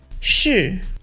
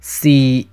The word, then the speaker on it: 是: 是 Is used in Mandarin. When read in Cantonese, it's pronounced 是 but the typical Cantonese word is 係 This